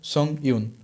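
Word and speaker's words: Song Yun: Spelling भी बताता हूँ, SONG, उसके बाद स्पेस रहेगा, और YUN, उनका भी प्रोनाउंसिएशन होगा सोंग यून, ठीक है।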